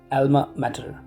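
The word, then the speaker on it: alma mater: का नाम ये है, एल्मा मैटर, ठीक। और इसको जो है एल्मा माटर भी पढ़ा जाता है। माटर या मेटर दोनों ही प्रोनाउंसिएशंस के सही हैं, ठीक है।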